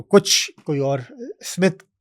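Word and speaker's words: Psmith: मुख्तलिफ दिखाने के लिए साइलेंट पी अपने नाम के साथ लगाता है। तो पेजी वुड हाउस की अगर आपको आपको स्मिथ सीरीज को सर्च करना है तो पी एस एम आई टी एच करके आप सर्च करें जी जी जिसमें पी साइलेंट है पी साइलेंट जी तो ये जो पहली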